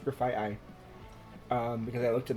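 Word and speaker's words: Grafaiai: oh we did learn that graphite ey is pronounced graphite ey um because I looked it up on bued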